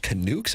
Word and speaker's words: Canucks: the Vancouver and there that's pronounced canukes.